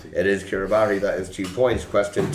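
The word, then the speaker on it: Kiribati: Curabati. It is Kiraabari.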